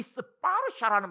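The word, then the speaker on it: स्पर्श: 그럼 이 스파르샤라는 말이 무슨 말인지를 이제 한번 분석을 해드릴 테니까 들어봐라. 촉을 인도말로 스파르샤. 사실은 이 스파르샤 할 때 샤는 영어로 하자면 K 발음으로 많이 나옵니다.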